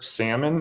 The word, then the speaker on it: Salmon: Uh now, we have Connor Salmon is how I'm going to say it because sal- Salmon has an L in it that you don't pronounce, and so does this guy's name.